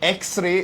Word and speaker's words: x-ray: So when you say x-ray, it sounds like it's starting with E, X-ray. So even though it is actually the letter X, when we say it, it sounds like it's starting with EX.